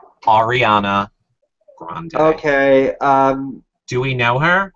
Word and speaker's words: Ariana Grande: Like it's spelled Grande, but I feel like when they said it, they said Grange. So Ariana Grange, but it's Ariana and Grande. Ariana Grande.